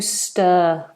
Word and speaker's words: stir: might be asked to stir stir and be be aware that this R is not pronounced we do a long vow for the end of this word St stir and you stir with